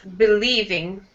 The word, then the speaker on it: believing: And this is believing. Believing. Mm-hmm. Yeah, so second syllable also strong there. Commercials, believing. Believing. Mm-hmm. Believing, E sound in the middle.